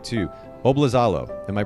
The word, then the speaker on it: Oblizalo: me make sure i get this right too bob lazalo am i pronouncing that correctly dude you nailed it i